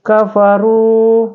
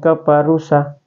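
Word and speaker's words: كَفَرُوا: ya Ee dibaca panjang contoh kafaru bukan kafarusa kafarusa bukan ya tapi kafaru Sawa kafaru Sawa bukan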